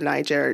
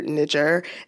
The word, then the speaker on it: Niger: I I don't care if you're messing up the pronunciation of Niger Niger it it doesn't it doesn't just easily slip from a soft G to a hard G that that's a hard